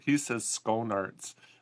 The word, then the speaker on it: Schoenaerts: I had to learn how to pronounce his name, Schoenaerts. I wouldn't want to say that 10 times fast. Yeah. Well, it's very funny because even he doesn't know how to pronounce his name. He says Schoenaerts, but Belgians and Flemish people say, no, it's Schoenaerts.